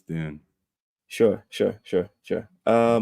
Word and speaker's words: Dune: Dune I call it I pronounce it June well that's wrong it's Dune sure sure sure sure